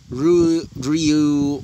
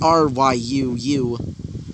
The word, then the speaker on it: Ryu: or whatever i mean it's r y u and i'm just gonna call her just like ryu okay good or you